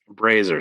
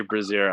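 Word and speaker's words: brazier: is a lit razier there's a what brazer sorry I thought you said braier did you say bra I did Tech I did say braier I mispronounced no that's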